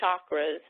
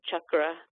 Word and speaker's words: chakra: pleas please please please do not pronounce it as chakras it is there's no such there's no such word it's cha with an actual hard CH sound chak chak means wheel if you can't say